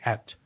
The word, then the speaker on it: eat: an observation about how it says she eat. Right. But you would pronounce it et. Right. Because that was a very archaic way of articulating ate, the past tense.